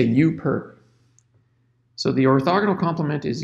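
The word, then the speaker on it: U⊥: there you along with the superscript that's actually pronounced you perp so we say you perp so the orthogonal complement is you perp and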